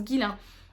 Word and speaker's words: Ghislain: Et du coup, j'ai choisi de sortir de ma palle un livre de Ghislain ou Ghislain, je sais pas, je pense que ça se prononce Ghislain, Gilberti, Le festin du serpent.